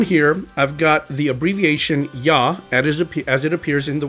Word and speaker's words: Yah: These two letters are pronounced Yah, and they are the abbreviation for the proper name of the God of Israel, the divine name, Yahweh.